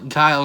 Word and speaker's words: Guile: what at least one of them has considerable guile i think that's how you pronounce it keel i know kyle is how you pronounce this street fighter him his name is